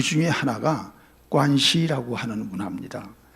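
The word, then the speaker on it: 关系: 많죠 그 중에 하나가 관시 하는 문화입니다 권시은 관계라고 하는 한자의 중국어 발음입니다 관시 관시 그 사람들은 이것보다 중요한게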